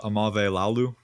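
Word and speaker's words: Aumavae-Laulu: I'm not going to even ma Malia do you know how to pronounce that last name Mali Salah amave Lalu thank you offensive tackle out of Oregon and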